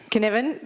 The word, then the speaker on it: Cynefin: Cynefin, that's almost what I said.